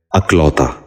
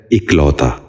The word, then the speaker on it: اکلوتا: غور سے سنیے، اقربہ۔ پانچواں اور آخری لفظ ہے اکلوتا۔ یہ غلط تلفظ ہے، درست تلفظ ہے اکلوتا۔ دوبارہ سنیے، اکلوتا۔ بچوں